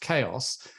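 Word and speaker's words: Qeios: send them off to this publishing platform called chaos it's it's uh spelled quios but it's pronounced chaos and and here you'll find the same thing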